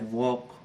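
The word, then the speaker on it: walk: वॉक, ऐसे बहुत से वर्ड हैं आपने देखे होंगे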